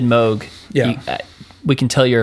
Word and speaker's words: Moog: Uh but you know like most two oscillator synths like so think like Jupiters, Moogs, um Oberheims, and like plugins or other hardware